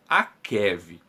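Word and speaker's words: עקב: Nós temos somente a palavra Akov, a pronúncia desta palavra em hebraico, quando se elimina o iod, ele acaba ficando como Akev.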